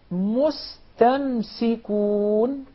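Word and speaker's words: مستمسكون: Of course, we don't have any problem whatsoever with pronouncing the sin properly because it's followed by a letter that's already muraqqaq. So it will not be confused with the sad.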